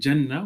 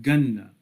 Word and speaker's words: Jannah: Today in Arabic, there are people, for example, in Egypt, that pronounce the letter Jim as Gim, right? So masjid would become masjid, and Jama'ah would become Gama'ah, and Jannah would become Ganna.